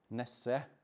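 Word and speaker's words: Nesse: the dysfunction is as Ness as it's pronounced where the name originates uh warns viewing diseases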